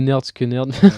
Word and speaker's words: Lynyrd Skynyrd: d y y s'écrie lynyrd skynyrd comme tu dis avec des y non dits les nerd scanner à l'américaine donc dans quel dans